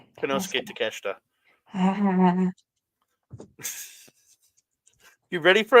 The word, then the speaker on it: Konosuke: Kinesuke? Konosuke Takeshita.